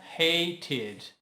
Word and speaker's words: hated: Hate. Termina com T. E o E é mudo, né? Acrescenta ED e fica hated. O E precisa ser pronunciado, ok?